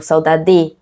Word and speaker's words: saudade: Je ne vais pas dire saudade, non plus saudade ou saudade. C'est saudade, dade. Il n'a pas un accent, la plus forte, c'est l'avant-dernière syllabe.